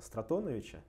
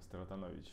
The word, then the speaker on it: Стратонович: Есть другой, кстати, способ построения стохастический интеграл Стратоновича, он для физических приложений применяется. Я, честно говоря, не знаю. Это кто-то наш, да? Да, наш. Да. С таким ударением Стратонович.